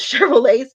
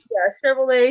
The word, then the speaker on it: Chevrolet: make sure I'm saying it right it was chevrol I don't want to give a different car um oh Chev oh Chevys okay yeah Chevrolet yeah Chevrolet Chevys yes because it was founded again in